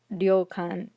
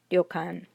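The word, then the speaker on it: りょかん: The next one is ryokan, and you have ri, chisai yo, kan, ryokan, ryokan.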